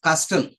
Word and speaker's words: castle: not pronounce it as Castle we pronounce it as C CLE that t remains silent T remains silent letter T remains uh